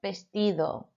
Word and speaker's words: vestido: Un vestido. Okay, so tricky letters in this section with a J sounding like an H and your V sounding like a B.